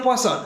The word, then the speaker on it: Poisson: Se escribe Poisson con doble S, pero se pronuncia Poisson.